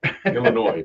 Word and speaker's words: Illinois: Illinois. Please don't pronounce the S.